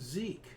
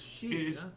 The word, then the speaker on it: Sikh: I've always pronounced it Sikh, but it's Shik.